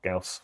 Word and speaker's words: Gauss: So yeah, you might see a bit more Gauss or Gauss, so it's pronounced.